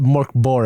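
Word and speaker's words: Mörk Borg: I remember listening to Glass Cannon do Morkborg.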